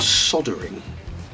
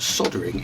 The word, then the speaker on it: soldering: did not know that soldering is how Americans say soldering. Now, it's spelt the same, but they choose to miss the L out.